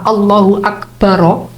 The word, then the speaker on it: Allahu Akbar: Allahu Akbar itu diucapkan satu nafas. Wa yaftahu ar-ra fil awal, jadi mengucapkan ra yang pertama Allahu Akbar, jadi itu ra-nya di fathah, yang di akhir wa